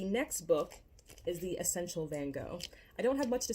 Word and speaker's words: Van Gogh: going through it again probably should have said van gogh i'm sorry that's how he would have pronounced his name next we have i'm